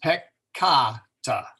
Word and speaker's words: peccata: So if we look up peccata, we find that that first A is long. So it's pronounced peccata, since the A in that second syllable is long.